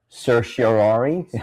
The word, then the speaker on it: certiorari: So the first term is, I don't even know how to pronounce this word, denial of certiorari.